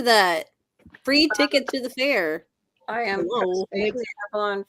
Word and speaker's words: Faire: So it's it's Facebook/Avalon Faire, and it's spelled FAIRE. Like the fair.